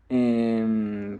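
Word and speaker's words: へ: de pronunciación m e por ejemplo esta que también se lee G pero cuando funciona como partícula que nos sirve para marcar la dirección la pronunciamos e bueno pasa lo mismo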